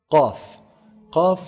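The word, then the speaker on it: قاف: a lower lip fat off is pronounced from the deepest part of the tongue so the closest to the throat the farthest from the mouth off calf is pronounced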